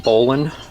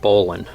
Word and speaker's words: bowline: next one we're going to learn is the bowline knot it's birds spelled out bow line but it's actually pronounced bowline is the correct pronunciation so the first thing